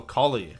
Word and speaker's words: Collei: Oh, Collei.